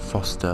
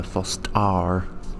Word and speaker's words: Fostar: Not Foster, Fostar. That's like actually how they say it, so, you know, it's interesting to see all this unique stuff.